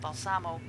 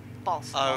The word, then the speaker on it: Balsamo: So, not Balsamo, Balsamo. Oh, okay, so the accent is on the front.